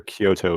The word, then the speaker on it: Kyoto: Yeah, Kyoto It's two syllables. You swap them, and it becomes Tokyo.